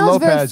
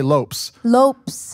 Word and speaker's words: Lopes: of Gomez it's Gomes it's kind of like with the French French you drop the last letter often and you don't pronounce that and so it's kind